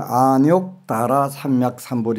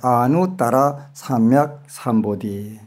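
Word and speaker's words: 아뇩다라삼먁삼보리: 밭갈 누자인데 그게 옆에 욕자가 들어가 있으니까 이거 욕이라고 읽나 보다 이렇게 한 분이 읽는 바람에 한국 불교에서는 안욕, 다라, 삼약, 삼보리 이렇게 바뀌어 있는데 그 한자가 누자도 맞고 산스크리트도 정확하게 맞아요. 아누, 다라, 삼약, 삼보디.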